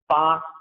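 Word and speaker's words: 八: Well, for the Chinese, and this is especially true in the southern parts of China, the number 8 is Ba, which rhymes with a character for being prosperous.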